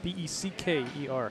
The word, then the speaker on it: Becker: It's a B-E-C-K-E-R.